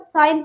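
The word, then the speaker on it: sign: ठीक है, नेक्स्ट हमारा साइन, जो सिग्नेचर होता है ना, साइन, तो उसे हम साइन पढ़ेंगे, जी साइलेंट रहेगा।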